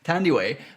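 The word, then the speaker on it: Thandiwe: Tandiway... Now I forgot her last name. Newton. Tandiway. But it was Tandy at the time. And also, I thought it was Thandy because it's TH at the beginning of the name.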